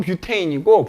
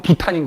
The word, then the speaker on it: 뷰테인: 영어식 발음하면 뷰테인이고 독일식 발음하면 부탄인 거야.